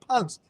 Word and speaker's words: Pant: You call him Pant. But you know what the real pronunciation of his name is? You should know, rugby league player. Punt. Punt. Yeah, he's punt.